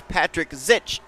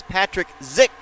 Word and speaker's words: Patrick Zick: His name I pronounced as Patrick Zitch. That is not correct. His name is Patrick Zick, and I do apologize for that.